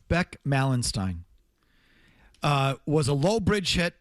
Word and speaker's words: Malenstein: Are you sure it's Malenstein? It's Malenstein. That's what they said last night on the broadcast. Beck Malenstein.